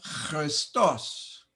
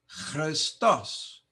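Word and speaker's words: Χριστός: And Christos, Christos. Remember, this is not an X. X sound comes from xi, that letter xi.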